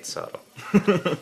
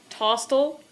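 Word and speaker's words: SotL: No, you say Sottle. Well, there's another pronunciation one for you. Tostle. Tosottle. Sottle. It's always Sottle.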